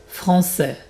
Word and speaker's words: français: Garçon, donc c'est comme si je prononçais deux S. Garçon, boy. Français, French. Français, tu entends les deux S. Si j'avais pas mis les deux S, ça ferait garcon, et donc j'écrirais sans le CCD.